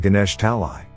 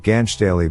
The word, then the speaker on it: Ganesh Talai: every night it's a suburb called ganesh talai he was mispronouncing it as a child calling it ganch daily but it confirms that